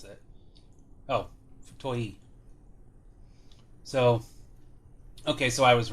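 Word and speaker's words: 太い: Okay, well, I know the character, it's just I wasn't sure how to pronounce it. Oh, Futoi.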